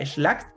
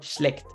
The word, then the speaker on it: schlecht: Así que recuerden siempre pronunciar su A umlaut como una E. Esto no es schlacht, sino schlecht.